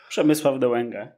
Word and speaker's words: Przemysław Dołęga: my guest today is and please help me pronounce it better. Is it Przemysław Dołęga? Przemysław Dołęga, yes, but okay.